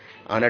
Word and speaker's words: honour: ऑनर different sound हो रहा है। बाकी तीनों क्या है? हाउस और एच हा से शुरू हो रहा है, जबकि ऑनर को आ से शुरू करना पड़ रहा है, भले स्पेलिंग उसकी HONOUR लिखा है।